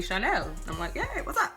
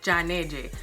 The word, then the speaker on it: Chanel: is right there and Dominicans had no problem saying my name they was a Chanel like it it wasn't a big problem but in Colombia almost everyone said John AJ so I was just